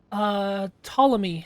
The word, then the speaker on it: Ptolemy: It is one of the 48 listed by the 2nd century astronomer Ptolemy, spelled with a silent P, I assume, and is one of the modern 88 constellations recognized by the International Astronomical Union.